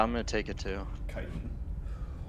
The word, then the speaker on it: chitin: Chitin. I'm pretty sure it's pronounced chitin with hard k, I think it is chitin. because the adjective version is chitinous of that word.